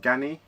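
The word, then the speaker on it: Ganni: 1906 again collaboration with gany I believe that's how you pronounce it gany uh very it's a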